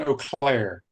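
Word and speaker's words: Eau Claire: pronounce it e Au CLA how do you pronounce that CLA CLA oair Wisconsin o'clair yes are building the largest indoor facility in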